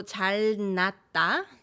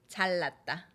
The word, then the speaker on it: 잘났다: 니은 neighboring 리을 becomes 리을 for the convenience of pronunciation.